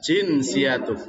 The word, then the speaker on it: جنسيتك: Jinsiyatuk ya. Jinsiyatuk. Jinsia. Warga negara. Jinsia. Jadi di situ bacanya jinsiyatuk. Jinsiyatuka.